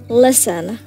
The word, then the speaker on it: listen: letters in the word listen okay yeah the silent letter is T okay is that the